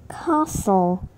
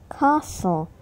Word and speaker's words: castle: pronounce the T but in some words we are not supposed to pronounce it they are listen castle castle buffet buffet soften soften